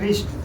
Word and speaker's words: wrist: काम तो उसका बहुत है लेकिन उच्चारण में उसका कोई काम नहीं है। एग्जांपल में समझेंगे रिस्ट। इसको हम लोग पढ़ते हैं रिस्ट।